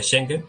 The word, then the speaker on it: Schengen: ejemplo lo del espacio Schengen, o como se pronuncie, pero yo creo que más o menos ahí está bien dicho. Schengen, está bien dicho.